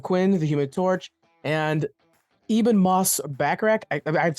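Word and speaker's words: Ebon Moss-Bachrach: Invisible Woman Joseph Quinn the Human Torch and Ean Moss backrack I I've said his name wrong 100 times but he's from the bear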